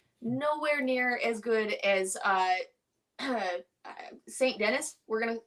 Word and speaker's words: Denis: Nowhere near as good as Saint Denis. That's how I'm gonna say his name. I'm pretty sure it's wrong. Saint Denis. Saint Denis. My bad. Not here in America. It's Dennis. See that shit? D-E-N-I-S.